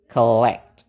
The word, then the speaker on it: collect: Nah itu juga sama kita pakai pola n Na tadi Nah Eh sama juga suku kata yang ada o-nya enggak ada stresnya berarti kita pakai shwa jadi ke gitu ya Oke jadi bacanya gimana Betul bacanya collect gitu oke eh sekali lagi